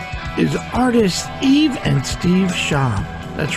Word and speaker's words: Schaub: Am I saying it right? Schaub? Yes. Okay. Schaub.